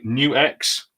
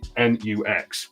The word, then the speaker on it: NUX: I used to call I used to say it wrong I've said it wrong so many times because you just see nuux so what what would that make you do um we will go no it's actually new x uh and I apologize